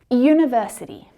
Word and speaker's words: university: University, umbrella. So the U in university is pronounced U, university, as if it's written with the consonant letter Y, that sound, Y.